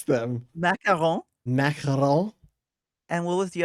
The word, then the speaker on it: macaron: How do I pronounce them? Macaron.